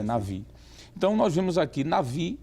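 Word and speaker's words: נביא: transliterações aparecer o B, deve ser pronunciado por V e não Nabi, como está inclusive na lição, não é? A transliteração, mas seria melhor transliterar por Navi, porque existe uma letra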